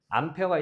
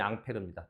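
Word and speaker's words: Ampère: 암페어가 일본식 발음이고요.이 본토 발음이 앙페르입니다. 동일한 사람입니다.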